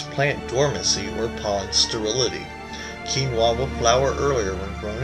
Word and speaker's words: quinoa: Pronounced quinoa, it sounds like something you might hear out of Bruce Lee just before he clears a room full of opponents.